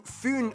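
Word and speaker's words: Fyn: it is connected to fun Island not Finn Island by the great belt Bridge completed in 1998.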